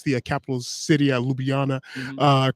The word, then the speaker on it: Ljubljana: We talked off of the air, you being from Slovenia, and you helped hmm me pronounce the capital city, Ljubljana, hmm correctly.